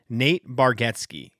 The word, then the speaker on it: Bargatze: Nate Bargatze, I believe, is the correct way that he pronounced it to Jimmy Fallon.